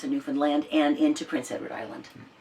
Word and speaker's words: Newfoundland: Is up in Nova Scotia and Newfoundland, which is how they pronounce it, Newfoundland, and into Prince Edward Island.